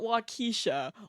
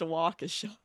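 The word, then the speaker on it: Waukesha: of silly but no it's not wesa or wakesha like the singer it's not wakesha like like like Kesha it's wakesha it is not like Kesha the singer but I wish it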